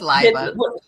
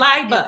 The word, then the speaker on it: Leiba: I like that pronunciation, actually. Did I? It's Leiba. It's Leiba.